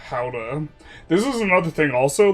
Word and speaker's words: Gouda: In English, Gouda is commonly pronounced as uh Gouda or sometimes Gouda. Gouda is like the way I hear it. But the Dutch is similar to who uh Gouda.